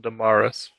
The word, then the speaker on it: Damaris: Actually pronounced it Damaris. It's like damn arse, but not really.